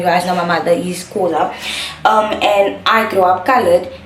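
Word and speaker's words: Xhosa: Kosa, it's not, I'm gonna say Kosa, but I know it's pronounced Kosa.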